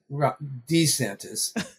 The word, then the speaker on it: DeSantis: I don't know if it's DeSantis, DeSantis, DoSantis, DoReMeSantis. But anyway, according to Donald Trump, it's DeSanctimonious. Yeah. But NPR says DeSantis. So if anyone knows, it's going to be NPR and how to pronounce something.